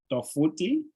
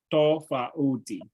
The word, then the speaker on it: tofauti: So you can say tofuti, say tofuti, everybody, tofuti. Tofuti. Tofuti and tofauti. Tofauti. Tofauti. Yes. Yes, there's an extra syllable in between there.